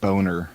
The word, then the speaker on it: Boehner: passed it was when john boehner was still uh speaker of the house or whatever it's pronounced boner oh yeah when boner